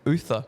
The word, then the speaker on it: Uther: a mini recruit Charlie other that's it that's it I think you'll find it's pronounced Uther oh